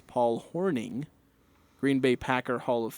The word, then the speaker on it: Hornung: named to the well I said the Paul hornung award watch list because that's how it's spelled although 2305 here to correct me on pronunciation saying it's Paul Horning Green Bay Packer Hall of Famer so I